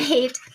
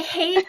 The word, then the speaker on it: Haight: Oh my goodness, you're going to love Kristina Haight. I think it's Haight, right, Kristina? No, you had it the first time, Haight. I said Haight? Yep. Okay, I was scared to say hate, but it looked like hate to me.